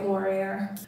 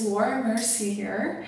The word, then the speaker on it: Laura Mercier: I will be going with my Laurier. Why do I pronounce it like that all the time? It's Laura Mercier powder, and I'm gonna add